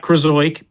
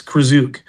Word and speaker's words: Krzyzuk: It's not Krzyzuk, it's Krzyzuk.